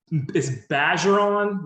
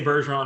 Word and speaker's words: Bergeron: So it's Bergeron, like badger. It's like saying badger, but it's Bergeron. You can say Bergeron, it's totally fine. But if you're in Louisiana, that's how you say it. It's French.